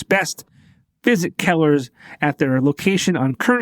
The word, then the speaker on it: Kellagher: Welcome to the show, Kellagher, right? Is that how you say it? That's right. Kellagher.